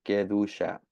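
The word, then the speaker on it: קדושה: Así se escribe. Ah, y así se pronuncia. Quedá.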